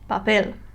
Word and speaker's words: papel: look at the word it has no Tilla and it ends with an L that means I stress the last syllable papel yeah so these were